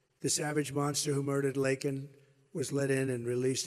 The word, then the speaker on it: Laken: brilliant 22-year-old nursing student, Laken Riley. You know Laken very well now. And after months of prodding him, Biden couldn't pronounce her name. He said Lincoln Riley, and Lincoln Riley is the football coach, or the coach.